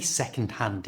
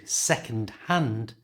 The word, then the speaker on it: second-hand: When we say second-hand in fast natural speech, we usually don't pronounce the D at the end of second. So second-hand becomes second-hand.